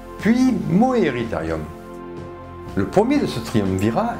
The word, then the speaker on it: Moeritherium: Coelophysis, ça se prononce Coelophysis, Coelacanthe, c'est Lacanthe, Moeritherium, Meritherium. Ma foi, peut-être. La bête du lac Moeris. Ah, ben ça se prononce Moeritherium.